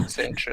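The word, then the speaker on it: Tzeentch: Est-ce que vous prononcez Tsinch, Snatch ou Tswanch? C'est la vraie question par rapport à Moi j'ai dit Magnus. Chance. Moi je dis Chance. Mais c'est ma personne. Pour moi, c'est Tsench, donc voilà.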